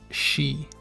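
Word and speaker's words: し: e and then key but now is pronounced she like she is on a hook because it looks like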